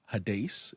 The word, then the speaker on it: Hades: other words like Sheol, words like Hades or Hades is how it would be pronounced in the Greek, even some more obscure words like Tartarus.